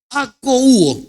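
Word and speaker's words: ἀκούω: en el griego koiné, oír se escribe akouo con k, con acento en la u.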